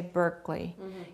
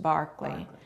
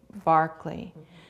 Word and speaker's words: Berkeley: in America now uh his name at the time and in England today would be pronounced Barkley so I have been taught to say Barkley as a philosopher he's